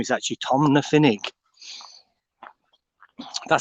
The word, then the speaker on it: Tomnafinnoge: the proper name to it is tom lafinig tom nuffinik woods but yeah tina it's not spelt correctly but that's how you actually pronounce it tina healy tin ahili but yeah